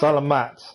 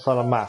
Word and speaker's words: Salamat: Salamat, not Salamat. Yeah, Paimon Oh, remembers. okay, so it's When we pronounced first met, Salamat, you were clearing out but one it's of their spelt camps.